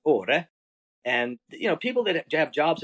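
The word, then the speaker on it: Åre: We call it Ara, but in Swedish is pronounced Ore.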